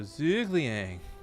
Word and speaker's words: Zhuge Liang: his name correctly was pretend you're saying zergling with a really stuffed up nose and you're feeling lazy and I'm like oh so Zhuge Liang you know someone said